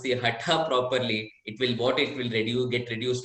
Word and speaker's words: hatha: Probably taking up from there, they don't pronounce the hatha properly. They're making it as atha, hatha, hatha.